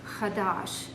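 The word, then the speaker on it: חדש: The first one is a verb, which is pronounced chadash, and it means to be new, renew, or repair, especially when it's talking about items.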